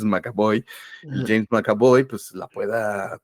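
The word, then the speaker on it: McAvoy: Cómo se llama macabo Siempre le digo mboy pero es macabo James macabo pues la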